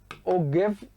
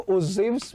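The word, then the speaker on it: ogive: Pronounce ऐसे करते हैं, उसको लिखते हैं ऐसे, ओगिव लगेगा आपको, इसको ओजिव्स बोलते हैं।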